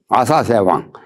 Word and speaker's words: 아사세: 그리고 인도에서는 그다음 필에는 불보살이 원가가 되기도 한다는 그 말에 대해서는 아사세왕 아사 발음을 사 그럽니다.